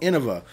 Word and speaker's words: Innova: all these people call it Innova, that's the name. You don't get to just say it's something else. It's freaking Innova, okay? The company's called Innova. Period. End rant. Drive me crazy with this mispronunciation.